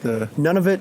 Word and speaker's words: Nunavut: That's the Nunavut? Is that how you pronounce it? Nunavut.